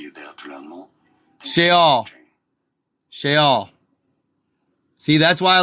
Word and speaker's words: Sheol: So, so yeah, Sheol. Sheol. That's the way they say it in Hebrew.